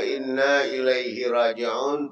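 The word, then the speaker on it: إِنَّا إِلَيْهِ رَاجِعُونَ: Nang berucap itu bukan inna lillahi wa inna ilaihi raji'un, tapi dibacanya inna lillahi wa inna lillahi raji'un.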